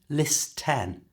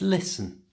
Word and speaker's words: listen: First, the T in listen is silent, so it's not listen, it's listen.